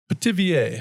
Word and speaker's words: pithivier: Um the spring vegetable, I need your help pronouncing this word. Pithivier? Pithivier.